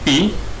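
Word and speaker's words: π: i i Hai hey ya tanda ini dibaca Pi ya dibaca Pi adalah sebuah angka yaitu angka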